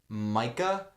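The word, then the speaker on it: Maike: Basically, there was some miscommunication with his German pen pal, and it's a girl, and her name was Micah. Yeah. But it's spelled like Mike.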